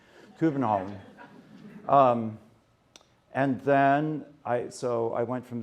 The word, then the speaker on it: København: So we flew to Helsinki, and then I flew to Copenhagen, København, something like that in Danish. I won't tell you how everyone pronounces stuff, but the Danes have to swallow everything. So København.